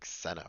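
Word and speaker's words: Zeno: to mispronounce because it's written as xeno which should be pronounced something like ceno or something so founded by ceno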